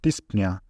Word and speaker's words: dyspnea: For example, this, which pronounced dyspnea, it means shortness of breath.